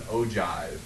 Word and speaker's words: ogive: to call it an ogive. That's how you pronounce that word, ogive, not ogive. Ogive is the proper way to pronounce that.